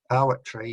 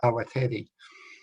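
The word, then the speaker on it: Awatere: I've never seen an A pronounced like an I, so and it has got an E in the middle, so I can't figure out how people manage to pronounce it as Awatri instead of Awateri, but it happened, so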